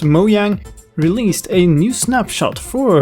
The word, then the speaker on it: Mojang: of October and today moyang and yes it's pronounced moang released a new snapshot for Minecraft 1.9 the